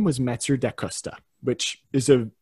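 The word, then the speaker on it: Mathieu da Costa: and his name was metzer de costa which is a the actual pronunciation of that varies depending on which language you're in but for our purposes here it's master de custa and he was a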